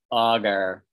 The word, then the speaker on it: augur: Augur, augur. Augur. Augur, augur. Augur. We say ogre.